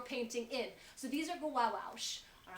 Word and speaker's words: gouache: This is called gouache. Yeah. Gouache. Let Let me tell you about gouache. gouache. It's called gouache. It's spelled Gouachequea.